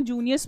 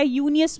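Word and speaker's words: Junius: फिर आपका क्या हो गया, फिर आपका कैडमन मैन्यूस्क्रिप्ट भी होता है जिसको हम लोग जूनियस मैन्यूस्क्रिप्ट भी बोलते हैं, या यूनियस मैन्यूस्क्रिप्ट जो है वो करेक्ट प्रोनाउंसिएशन होगी।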